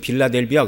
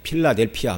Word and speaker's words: 필라델피아: 이 빌라델비아, 성경에서는 우리말에서는 빌라델비아 그러지만 이제 발음을 하면 이제 필라델피아 뭐 이렇게 얘기를 해야 됩니다.